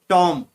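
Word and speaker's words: tomb: Second टॉम, टॉम में बी, बी के नीचे अंडरलाइन किया गया है, बी को अंडरलाइन किया है टॉम, तो उसमें बी साइलेंट रहता है।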